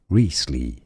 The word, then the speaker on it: Wriothesley: S L E Y Wesley is how you want to say it oh I forgot to